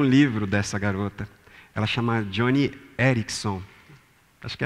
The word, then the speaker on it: Joni Eareckson: Ela chama Joni Eareckson. Acho que é mais ou menos assim que se pronuncia o nome dela.